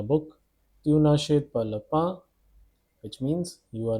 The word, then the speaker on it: pain: Pronunciation is pain, which means bread.